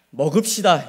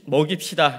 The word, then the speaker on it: 먹입시다: 네, 우리 인사를 할 때 발음이 정말 중요합니다. 그 어린 양을 먹읍시다 이러면 큰일 나는 것이고요. 우리 어린 양을 먹입시다 라고 하셔야 되는데 우리 다시 한번 발음에 유의하셔서 우리 어린 양을 먹입시다 한번 인사하겠습니다.